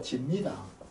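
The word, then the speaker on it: 識: 이게 시기 아니고 지입니다. 지인데 그냥 씀하는 게 좋습니다. 기록할 지다 드라마. 네, 기록할 지자. 그러니까 이거 발음이 이런 시기 아니고 진데.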